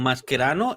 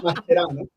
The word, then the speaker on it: Mascherano: El se siente argentino lo pronuncia como argentino.